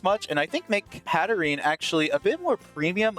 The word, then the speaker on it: Hatterene: I've always pronounced it as Hatterene. Some people say Hatterini, and I can see it both ways.